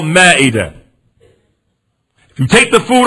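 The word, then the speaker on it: مائدة: American Muslims call it ma'idah. We call it Ma'idah. We mispronounce it. But it's called Ma'idah.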